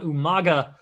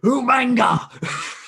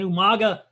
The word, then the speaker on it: Umaga: And I always love the way William Regal announces Umaga's name. Umanga! I don't think anyone really ever wanted to tell him that he was kind of pronouncing it wrong, so they just rolled with it.